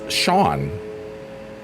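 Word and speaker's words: Sean: So, my middle name is Shawn, spelled like the Irish way.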